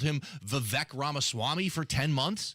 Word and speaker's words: Vivek: Later, we found out it's actually Vivek. He was around for about a year before we found out that was the correct way to pronounce his name.